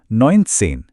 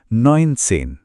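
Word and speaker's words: neunzehn: और हमारा आखिरी चैलेंज था नसेन। इसे कहेंगे नइनसेन।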